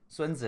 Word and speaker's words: Sun Tzu: I just found some a YouTube video called "The Art of War," Sun Tzu or Song Tzu. Sun Tzu is his Chinese pronunciation, but animated book summary.